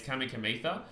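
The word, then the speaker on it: Kamikamica: Kamika uh but it's it's C in Fijian is th right so it's kamikamita that's a little bit of knowledge for you guys out there who are Fijian who don't know how to pronounce their names over there if you see a c it usually is pronounced for the th uh Blossom roses and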